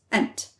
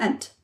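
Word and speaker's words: انت: one male person is ant. This is equivalent to enta in standard Arabic, but it's usually shortened to ant in Saudi dialect.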